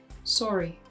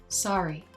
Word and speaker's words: sorry: In the word sorry, Matthias pronounces the O spelling as O, sorry. But this word is pronounced by American English speakers with an A, sorry.